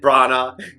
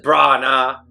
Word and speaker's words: Branagh: You got Kenneth Branagh. If I'm saying it right, he's just Branagh.